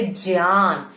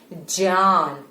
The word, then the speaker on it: ज्ञान: जो इसका रियल जो प्रोनाउंसिएशन है वो है ज्ञान, ज्ञान नहीं है, ज्ञान, ठीक है। ज्य, इसका जो पुराना साउंड था वो है आधा ज और य, ज्य, ज्ञान।